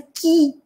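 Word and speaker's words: qui: Буквы эти две вместе, помните? И одна из них не читается. Получается «ки». Мягкое «ки».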